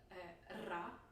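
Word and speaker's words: ر: It's in Spanish, it's in a lot of languages, so I had already practiced it in like Spanish class in school and stuff like that. So it wasn't that hard. Also for other foreigners, I'm guessing it won't be that hard. It's ra, ra.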